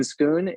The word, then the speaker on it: Schoon: And tonight, Schoon is, and did I pronounce that right, last name? You did, you did.